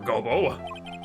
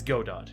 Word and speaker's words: Godot: Well then, Prosecutor Gobo. It's not Gobo. It's Godot, Your Honor.